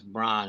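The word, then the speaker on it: Braun: how you spell that it's not brown it's Bron it's like b r a u n with the two dots in there somewhere above the U or some [ __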